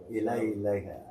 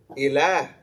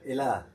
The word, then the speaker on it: Ilah: I was saying Al Ilayha. Yeah. I was yeah. Al-Aliha. Aliha is the plural of what word? Ilay. Or not Ilay. How do you say God? Ilah. Ilah.